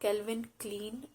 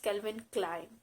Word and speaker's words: Calvin Klein: brand it's kelvin klein kelvin clyde it's not kelvin clean it's calvin klein moving on to the next brand the